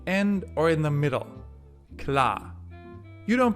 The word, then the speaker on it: klar: Klar. You don't pronounce it at all.